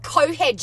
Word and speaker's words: Cockhead: It's pronounced Cohead, you morons. The CK is silent.